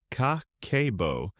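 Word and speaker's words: 家計簿: Pronounced kakeibo, this is a budgeting system invented in 1904 by Japan's first female journalist.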